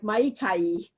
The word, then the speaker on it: Maika'i: So as Vandana said, my Hawaiian name is, it's actually pronounced something like Maika'i, which I struggle with the pronunciation too.